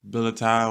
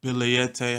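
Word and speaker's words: billietiae: a cousin to the Philodendron billeti or biliete, however you want to pronounce it, wherever you're from.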